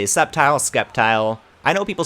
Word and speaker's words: Sceptile: Also, the C in Sceptile is silent. I like saying the C, though. We can say Sceptile, Sceptile.